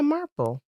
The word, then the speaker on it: Marple: Christie's character um Mrs Marple uh am I pronouncing that correctly yeah Marple yeah then I could see someone loving a